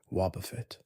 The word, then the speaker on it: Wobbuffet: Wobbuffet's cry in the original games is exactly 2 syllables, Wobbuffet. It says its own name. This is standard for most Pokemon. But Wobbuffet's name ends in fet, which requires a specific closing motion of the mouth, and the resulting sound